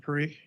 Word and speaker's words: Parikh: Is it Mr. Parikh? Is that correct pronunciation? Yes, sir, it is. This is good. Listen. And where do you reside, Mr. Parikh?